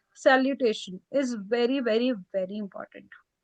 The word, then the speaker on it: salutation: So in English, we pronounce it as salutation, shun. In French, we'll pronounce it as salutation. Tion will always become sion.